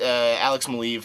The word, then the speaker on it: Alex Maleev: I did not say that ah Brian Bendis alex maleev I know that that how you say his